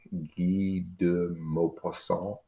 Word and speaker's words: Guy de Maupassant: It's going to be Guy, but it's probably pronounced Guy in French. De Maupassant. Something like Guy de Maupassant, maybe.